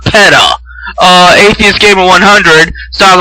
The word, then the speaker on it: PETA: And then Atheist Gamer 100, who can't pronounce fucking PETA, yes, PETA, like PETA, not PETA.